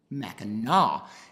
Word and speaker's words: Mackinac: island but it's pronounced Mackinac it's because the French originally took over the island and they spelled it